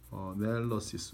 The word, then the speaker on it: analysis: analysis. 왜 발음이 동사할 때는 analyze고 명사할 때는 analysis인가요? 뒤에 강세가 있죠. 그러니까 여기가 sure가 되겠죠.